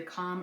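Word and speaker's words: kahm: One thing you might see in here is a little bit of either calm or cam yeast, depending on how you want to pronounce it, which is just kind of a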